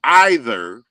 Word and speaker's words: either: Snitchy Poo Wonder Bread ought to let her know that when you pronounce either EI, it is not an I pronunciation.